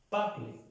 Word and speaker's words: parles: Tu parles. Se pronuncian igual, pero ya al conjugarlo se escribe diferente.